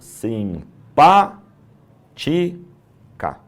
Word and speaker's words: simpática: Simpa tica. Três sílabas. O mais forte é o pá.